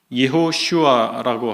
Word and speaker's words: 여호수아: 이해할 수가 있겠습니다 그리고 여호수아라고 하는 이름은 우리 개역성경에는 개정개역성경에는 요호수아라고 돼 있는데 히브리어 언어 발음대로 한다면 예후 슈아라고 하게 되겠습니다 이 말은 여호와가 구원하시다